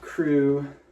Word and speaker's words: KR3W: priced it for like 35 bucks pair of crew jeans that's what the logo looks like it's spelled kr3w they're from like 2008 skinny jeans